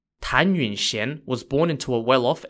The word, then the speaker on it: Tan Yunxian: well who we're going to talk about today tanun Shen was born in the year 1461 in the Ming Dynasty of China her name is spelled t a n y u n x i a n tanun Shen was born into a well-off and well-known family